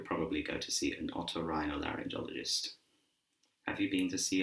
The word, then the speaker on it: otorhinolaryngologist: This is an otorhinolaryngologist, otorhinolaryngologist, otorhinolaryngologist.